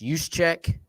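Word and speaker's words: Juszczyk: for the Niners Kyle I can never say his name is use check yep that's how you said you should check even though it's not what it looks like the guy was actually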